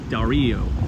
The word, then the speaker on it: Dario: for mispronouncing your name I had somebody send me a message that it's Dario with the little accent so my my apologies